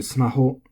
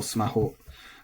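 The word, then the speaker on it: スマホ: So onto smaho, this is flat. Maybe years ago it was pronounced smaho, but I very much doubt it. Let me check. No, even in the dictionary it's still smaho. So keep that flat.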